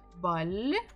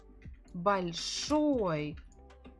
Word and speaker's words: Большой: Большой. Большой. What is большой? Что большой? On the picture we have пирог. Пирог. Большой пирог. Большой пирог. So we stress here the final syllable.